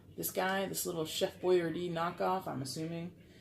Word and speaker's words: Boyardee: chef boy boy boy boy ard well that's how you really say his name it's not boy your deeds boy rd I believe